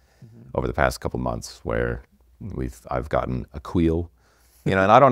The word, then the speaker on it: Accoil: Analytics, and then all the design was, it's pronounced Accoil.